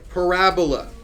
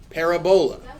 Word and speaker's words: parabola: it's a weird word this is called a parabola or as most people start out calling it a parabola because that's how it's spelled Parabola Parabola it's just